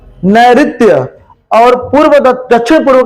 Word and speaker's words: नैऋत्य: दक्षिण पश्चिम का क्या होगा, नैऋत्य, नैऋत्य री है, नैऋत्य।